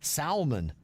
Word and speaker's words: salmon: Jennifer said the other day you mentioned salmon. The L is silent.